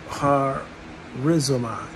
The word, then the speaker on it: charizomai: One of the Greek word for forgive is, I believe it's charizomai. The C is silent, and it simply means grace bestowed unconditionally.